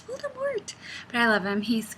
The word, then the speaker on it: Voldemort: Potter audiobook, the guy's called Voldemort with no T, and he doesn't pronounce the T. And every time I hear it, I'm like, he must not be named. He's not Voldemort. It's Voldemort.